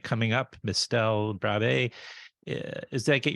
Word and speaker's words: Brabbée: Dell Brabay. Uh is that I get your last name right? Brabay?